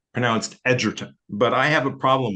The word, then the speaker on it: Egerton: In fact, his name is supposed to be pronounced Egerton, but I have a problem with that. I keep saying Egerton.